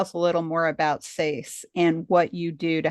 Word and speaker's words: SASE: I am the CEO and Executive Director for the Society of Asian Scientists and Engineers, pronounced SASE for short, like VASE. Some people might call us SASE, but we're really SASE.